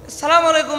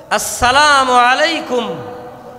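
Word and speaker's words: السلام عليكم: সালাম দিতে হবে আর সালাম শুদ্ধ পদ্ধতি সালামলাইকুম দিলে তো কি হয় না নেকি হয় না সালাম কিভাবে দিতে হবে আসসালামু আলাইকুম বলেন আমার সাথে বলেন আসসালামু আলাইকুম সুন্দর আ উচ্চারণ শেষে কুম পর্যন্ত উচ্চারণ হবে অনেকের শুধু আসসালামু শোনা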